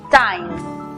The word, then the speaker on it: time: En la palabra tiempo, E muda al final, una consonante, el sonido abierto de la I, time.